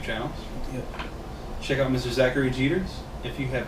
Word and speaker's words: Zachary Jeter: Zachary Jeters.